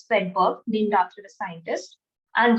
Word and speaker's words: Svedberg: So S denotes Swedberg unit, which is spelled as SVEDBERG, Swedberg, named after a scientist, and that denotes the sedimentation coefficient.